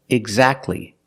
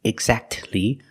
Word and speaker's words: exactly: the t is silent the t is silent when it's between consonants examples exactly Christmas we see the t is between consonants so we don't pronounce it you don't say exactly exactly don't pronounce a T